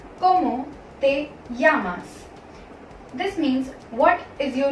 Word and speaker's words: llamas: It is pronounced either as j or y depending on your intonation. कुछ लोग इसको जामास pronounce करते हैं और कुछ लोग इसे यामास प्रोनाउंस करते हैं.